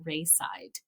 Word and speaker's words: Raeside: and loss is The Rainbow Bridge by Adrian Reiside. Adrian, and Reiside is spelled Raeside.